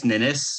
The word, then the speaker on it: Ninnis: watching um this is Nunes am I pronouncing it correctly uh yes ninis um and uh that's another story okay perfect